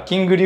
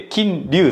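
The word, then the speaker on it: King Liu: ですねまあの人によってはキングの G は発音しないよってあれだあのアヴァンと一緒だねこのあのオルベアのね G は発音しないからキングリじゃなくて金龍さんですっていう方もいる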